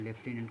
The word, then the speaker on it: lieutenant: लेफ्टिनेंट दोस्तों, लेफ्टिनेंट का spelling देखो, बहुत ही है LIEUTENANT, इसको लेफ्टिनेंट पढ़ा।